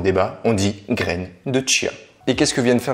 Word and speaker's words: chia: Oui, on prononce chia comme s'il y avait un T devant parce que ça vient de l'espagnol et en espagnol, le che se dit plutôt chia.